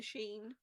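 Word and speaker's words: Shein: I got it from an online clothing store that rhymes with spleen. Spleen? Yeah, Sheen.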